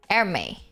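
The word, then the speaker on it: Hermès: increases in price is Hermes Hermes or whatever the you pronounce it Hermes I think it's called her but whatever airme that brand increase in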